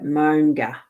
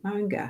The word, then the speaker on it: Maunga: Right, Maunga is pronounced, I want to see this, is pronounced now as in mow the lawn, and nga as in ga. Nga. So Monga. Oh, Monga.